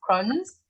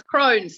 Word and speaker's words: Crohn's: receiving your diagnosis of crohn's am i saying it right no not at all it's crohn's like an old hag well crohn's disease crane